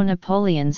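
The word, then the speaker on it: napoleones: There is also Napoleon's, again with all the vowels pronounced, a millefeuille pastry stuffed with a sweet milk-based filling.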